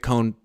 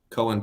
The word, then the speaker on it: Cohn: show should be Grant cone Grant cone places I don't get it Cohen places oh yeah I don't pronounce my name that way though but yeah it's funny